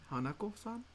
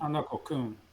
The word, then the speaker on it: Hanako-kun: Jibaku Shonen Hanako-san? Or Kun? Hanako-kun. Sorry, Yeah. I said san by mistake.